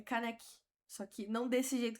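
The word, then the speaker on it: Kaneki: Não, realmente a pronúncia não é caneque, é canec.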